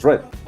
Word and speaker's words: read: En el caso del presente es read, en el caso del pasado es read y en el pasado participio también es read.